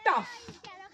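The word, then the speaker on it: tough: কিছু এক্সাম্পল দিই, যেমন টাফ। আচ্ছা, লাফ বানানটা একটু ভুল ছিল, তোমরা একটু ঠিক করে নাও, ঠিক আছে। LAUGH হবে, যাই হোক। টাফ, টাফে ফ উচ্চারণ হচ্ছে।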